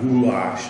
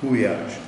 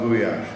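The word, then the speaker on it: gulyás: This is goulash, which is an L-Y, is also pronounced as a Y or goulash. Okay, it's not a goulash, it's goulash.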